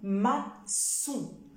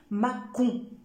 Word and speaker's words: maçon: le sang ce alors comme le mot maçon maçon parce que si j'enlève la cédille je vais prononcer ma con Mâcon mais avec la saisie je vais obtenir le sang ce maçon maçon alors le